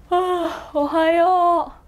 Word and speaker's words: ohayou: And then when you say ohayou to your friends or family, you can say ohayou or ohayou. No, depending on the situation. If it's home, you would be like ohayou.